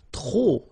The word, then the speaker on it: trop: If you want to use trop, and trop means too many, okay, then you will have to put de and the noun without the article. Okay, remember, too many, trop, don't pronounce the final P.